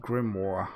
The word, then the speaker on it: grimoire: nice i like that diversity uh it is pronounced grimoire well that's a lot more easier uh turtle